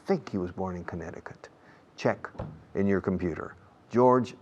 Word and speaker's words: Connecticut: Connecticut. Yeah, Connecticut. La C en medio no se pronuncia. Connecticut.